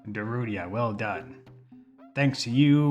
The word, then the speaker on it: Darunia: How do you pronounce the name? I say Darunia. Darunia, well done.